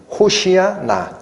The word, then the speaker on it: 호산나: 이제 구원하소서 호시아 나. 그런데 오늘 요한복음에는 이걸 뭐라고 읽어놨어요? 호산나. 이거는 히브리어를 헬라어 발음대로 그냥 적은 거예요. 그래서 원래는 호시아나, 이제 구하소서라는 뜻입니다.